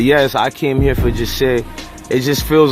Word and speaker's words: Jahseh: Jahseh, and Fernando's giving me the proper pronunciation. I don't want to butcher it. We're at Jahseh. Wait, I want to say it properly too, the last name and all. Onfroy? Onfroy. We're here at Jahseh Onfroy cemetery site and burial.